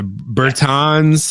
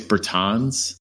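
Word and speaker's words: Bertans: like hungry guy yeah Burton's and Hachi Murrah that's pretty cool I say the name wrong it's Britain's its Britain's but I mean you know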